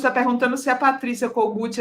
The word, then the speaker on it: Kogut: Aliás, eu eu eu eh falei certo, o seu nome é cogut mesmo que pronuncia?